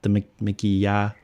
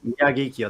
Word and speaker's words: Miyagikyo: I bought the Mikiya, I'm not pronounce this right, Mikiya. Miyagikyo. That one. I see somebody hasn't watched Sorry, my accent. Japanese whiskey video, Phil. But yes, Miyagi-kyo is what you're trying to say.